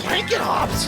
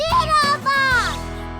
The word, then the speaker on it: Doodlebops: The blanket hops? No, the Doodlebops.